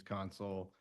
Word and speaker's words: Consul: yeah, it's Consul, last name's Consul, Console.